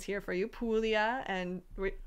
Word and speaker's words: Puglia: prima tivo di manduria so we have some pronunciations here for you puglia and primitivo di manduria um this dop is